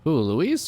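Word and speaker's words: Luis: Don't keep me waiting, Louis. End of chapter 2. Not end of chapter 2. We just lost Louis's signal somewhere in the vicinity of the forest. Um, it's pronounced Louise.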